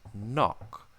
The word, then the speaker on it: knock: silent letters for instance in words like KN and knock the K was once pronounced but has become silent in the modern language so we used to